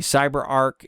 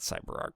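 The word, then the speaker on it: CyberArk: a Sim could be cyber Arc not cyber art pronunciation now it could be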